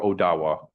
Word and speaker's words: Odawa: um when you're interacting with an indigenous person in present day um they prefer odawa um with a d with a d sounding verses versus a t.